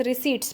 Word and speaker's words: receipts: होते हैं नॉन टैक्स रिसीट्स। P silent होता है इसमें।